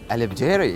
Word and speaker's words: البجيري: Try with me. Come on. Okay. I love jelly. I love jelly. I love jelly. I love Jerry. البجيري.